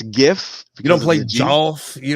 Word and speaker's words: GIF: it stands for graphics so you can't change the the acronym sound like you can't just be like that's the way I've always heard it though it don't matter you can't you can't change the the hard G sound of an acronym because of the I